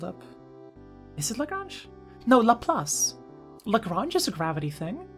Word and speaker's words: Laplace: Is that how you pronounce Laplace? Yeah, Laplace.